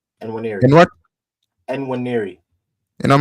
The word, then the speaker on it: Nwaneri: You talked about Ethan, and what's his name pronounced? Ethan Nwaneri. Enwiri. Nwaneri.